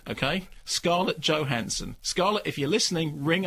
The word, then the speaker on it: Johansson: Not Johansson, incidentally, Johansson. We have to be correct about this. Scarlett Johansson. Did she tell you that? No, it's a known fact. That's how her name is pronounced. Everyone calls her Johansson, but it's Johansson.